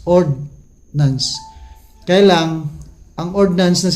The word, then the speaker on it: ordnance: Ang nabanggit naman natin na ordinance, ang pagkakaiba dito is walang I or D. I yun lang pagkakaiba ng letters. Kaya pag i-pronounce mo yun halos magkakalapit lang talaga. Ordnance. Ordnance.